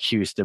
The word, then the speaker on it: Houston: And so we have a Houston County in Georgia, spelled like Houston, but they pronounce it Houston.